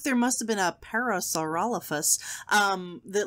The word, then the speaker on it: Parasaurolophus: Parasaurolosaurus. No. Nope. Hang on. Let me... Try again. Did I close the... I closed the window. All right, let's see. Parasaurolophus.